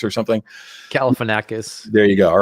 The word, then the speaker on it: Galifianakis: Galifianakis or something? Galifianakis.